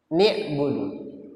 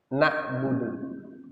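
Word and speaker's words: نَعْبُدُ: Sabit dan Imam Al-A'mashi semuanya membaca na'budu. Tapi kalau Imam Yahya ibn Sabit dan Imam Al-A'mashi itu beliau membacanya kasrah. Ni'budu, bukan na'budu. Tapi bacaan Imam A'mashi ini memang jarang kita dengar, jarang kita dengar. Tapi ada dipakai. Yang benar adalah dibaca fathah, na'budu, walaupun ada yang membaca ni'budu.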